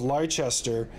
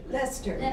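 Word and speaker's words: Leicester: the eighth Earl of leichester and he owns that whole estate I said it wrong who said it right Lester Lester great funny enough he he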